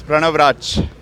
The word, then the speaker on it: Pranav Rachh: So Pranav, did I get the pronunciation right? Yeah, it's Pranav Raj.